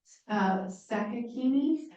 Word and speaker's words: Sakakini: In May is Sakakini. I think I pronounced that. April. April. That's right. Say it again. Sakakini. That's correct.